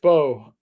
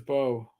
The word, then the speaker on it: Beau: uh you know, uh Pew is pronounced Bo. Oh, Boelle. B A B E A U is Bo.